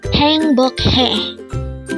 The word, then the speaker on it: 행복해: HAENGBOKHAE. Again, it's HAENGBOKHAE. This is pronounced as a three-syllable word. The first syllable is hang, second syllable is bok, and third syllable is he.